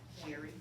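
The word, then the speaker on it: Jheri: back in the day Jerry like the name Jerry and it's probably spelled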